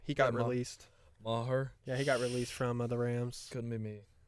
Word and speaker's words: Maher: Maher.